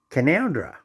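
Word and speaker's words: Canowindra: town called canawendra which is all pro so pronounced as canondra now can oundra and kanowindra is the same town you write it down can can o win and can now draw kanowindra and canondra and we also have a town called dunny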